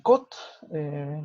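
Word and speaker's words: 꽃: Cot sigue siendo flor. No entiendo por qué lo ponen, porque en su lección lo vimos, ¿no? Que ese pachín va a tener el sonido de T.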